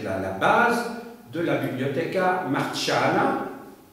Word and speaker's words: Marciana: ça va être la base de la Bibliotheca Marciana. Marciana, ça s'écrit M-A-R-C-I-A-N-A.